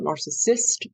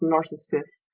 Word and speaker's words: Narcissus: It is not narcissist, like the disorder, or the person. It is Narcissus, like the Greek youth, in the myth.